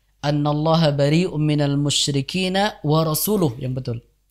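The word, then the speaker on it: رسولُه: Ya, misalkan di awal-awal At-Taubah itu ada lafaz annallaha bari'um minal musyrikina wa rasuluh yang betul. Nah, ketika orang membacanya annallaha bari'um minal musyrikina wa rasulah, ini maknanya sudah sangat berbeda.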